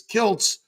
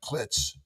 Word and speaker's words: Kiltz: So I added a T so they pronounced it properly, which Kilz is Kilts. But now they call me Dr. Klitz.